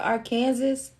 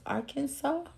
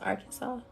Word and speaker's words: Arkansas: he was like Hey you ever been to Arkansas I said it's pronounced Arkansas I said I know that can be a bit confusing but I said don't tell nobody else that okay it's pronounced Arkansas hey Nebraska South Carolina Orlando hey hello beautiful